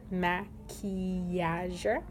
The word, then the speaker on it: maquillage: So you can hear the E in the middle of that long word, maquillage.